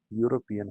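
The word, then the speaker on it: European: इसी तरह जो यूरोपियन है इसमें भी yu की साउंड यानी कॉन्सोनेंट साउंड निकलती है.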